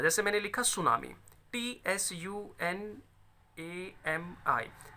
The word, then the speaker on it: tsunami: Right, T एस के combination में हमेशा टी साइलेंट होता है, जैसे मैंने लिखा सुनामी, TSUNAMI, तो सुनामी है, ये टी इसमें साइलेंट है, लिखा जाता है लेकिन साइलेंट होता है।